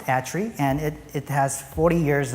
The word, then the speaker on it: ETRI: are our institution is called a tree it's pronounced a tree and it has 40 years of history in